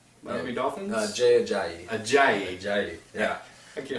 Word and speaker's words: Jay Ajayi: Another one is Jay Ayaji, Miami Dolphins. Jay Ajayi. Ajayi. Ajayi. Yeah. I can't That's tough to pronounce pronounce.